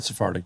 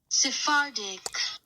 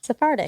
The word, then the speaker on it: Sephardic: I've heard Sphartic Jews for sure.